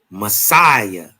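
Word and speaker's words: Masaya: It's called Messiah. Huh? That's exactly how you say it. Messiah and the city could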